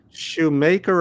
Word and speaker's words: Schumacher: Shoemaker or Mocker? I think it's Shoe. I think it's spelled the same, but it's just we just say maker or mocker. Sorry, mocker, not maker.